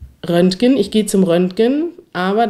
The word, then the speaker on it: Röntgen: denn tatsächlich wird rönken im Infinitiv wie ein G ausgesprochen aber wenn man es konjugiert wird es wie ein ch ausgesprochen Röntgen ich gehe zum Röntgen